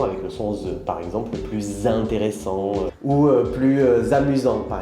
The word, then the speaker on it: plus: pas le laisse comme plus ok alors il ya beaucoup de situations là aujourd'hui je voudrais vous expliquer quatre situations d'accord première situation les situations où on ne prononce pas le s d'accord en général on